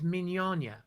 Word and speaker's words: Mignogna: That's the actual way, is Mignogna.